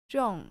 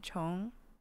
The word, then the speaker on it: 重: 重新, once again, like I talked about how there's two ways to pronounce this word, 重 and 重.